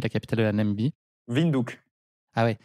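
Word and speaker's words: Windhoek: namibiie windinduk ah ouais ça se prononce à la Hollandaise un peu sin non ça pourrait sonner un peu hek c'est le corner en anglais enfin c'est le coin et beaucoup de villes comme ça c'est de l'africanur en fait c'est la langue des blancs namibi Afrique du Sud et et donc ça se prononce ou donc vindou les africanur que vous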